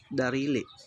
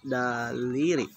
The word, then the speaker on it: daliri: At saka pipintahan natin yung ating kamay tsaka darili. Darili. Daliri. Talagang mahirapan tayo sa pag-pronounce ng daliri guys kasi yung dila natin ba mahirap talaga.